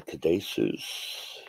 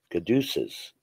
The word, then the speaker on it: caduceus: well for you now the cadesus caduceus caduceus i've been saying it wrong good deuces i haven't